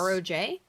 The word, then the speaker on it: Rog: How do you and spell that? How it says, Podge like and Rog? Yeah, like Podge. Podge and Yes. Roj?